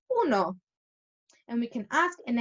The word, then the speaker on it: uno: So we're not going to say you know, like the card game that we all like to play. We're going to say uno.